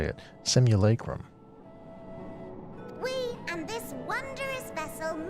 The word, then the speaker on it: simulacrum: her fellow researchers that's how you say it simulacrum we and this wondrous vessel masquerading as a